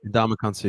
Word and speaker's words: Ndamukong Suh: I'm happy that I think, I can't say his name, the Ndamukong Suh. Is that how you say it? Ndamukong Suh, yeah.